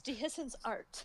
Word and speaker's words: Dehiscence Art: But you guys have been saying it wrong all along. Nobody has said art at the end. It's Dehiscence art.